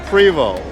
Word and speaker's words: Prevost: words you said but Prevo is actually the right table exactly okay you're